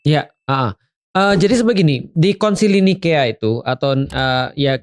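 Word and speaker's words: Nicaea: Jadi sebegini, di Konsili Nikea itu atau ya kita mau ngomong Nisea atau Nikea boleh ya, karena memang bacanya gitu ya.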